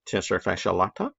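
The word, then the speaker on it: tensor fasciae latae: at this little guy tester fascia latta sounds like a cup of coffee at starbucks and it's flowing into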